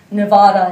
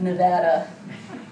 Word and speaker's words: Nevada: So I was pronouncing it Nevada instead of Nevada, which apparently is tantamount to strangling a newborn kitten in these which is kind of ironic, considering the name comes from the Spanish Nevada, which means snow-capped.